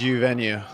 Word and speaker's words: Uvenu: But so let's welcome Daniel from Uvenu. Did I pronounce it right? It's Uvenu.